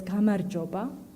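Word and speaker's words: გამარჯობა: A simple hello in Georgian is pronounced as gamarjoba, which comes from the word gamarjueba, meaning victory.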